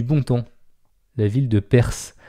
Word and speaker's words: Perth: temps la ville de perth ça s'écrit pas pareil c'est p rth faudrait dire perf nous retournons au 20